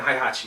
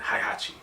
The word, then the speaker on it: Heihachi: Kazuya and Heihachi Mishima.